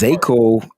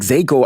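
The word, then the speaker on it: Zakelj: I think it's Zakiel and the J is silent.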